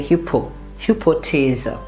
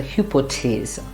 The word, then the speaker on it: Hypothese: P is also pronounced as, like when we have to exhale, so we say hypothese, and the th is just like T, so hypothese.